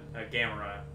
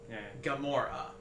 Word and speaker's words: Gamora: like um a Gamora we always said a gamra yeah yeah sure that's wrong now yeah sounds right but no it's wrong Gamora so who's the guy